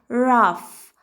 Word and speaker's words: rough: طيب لما يجي في اخر الكلمة بننطقه ازاي؟ بننطقه زي اول مثال معانا كلمة rough، حاجة صلبة او خشنة يعني rough rough rough rough.